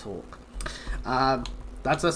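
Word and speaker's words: Hawke: ha and yes I do know that it's Hawk um that's a name and I've been during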